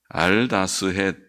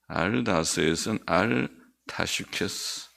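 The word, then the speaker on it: אל תשחת: 영장을 위해 알다스헷은 알타슈케스, 우리어 발음은 알타슈케스, 멸하지 말라, 그런 타슈케스라는 말이 멸하지 말라, 알타슈케스라는 멸하지 말라는 곡으로라는 그런 뜻이라고, 멸하지 말라는 곡으로에 맞춘 노래.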